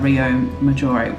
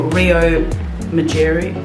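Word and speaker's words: Riomaggiore: We discovered a little bit about Rio Maggiore.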